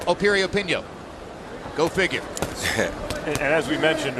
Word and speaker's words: Piriyapinyo: the name begins with a P but it's pronounced Opie reopen yo go figure as we mentioned earlier what a